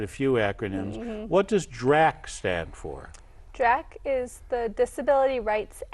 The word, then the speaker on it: DRACH: Not Dracula, but DRAC.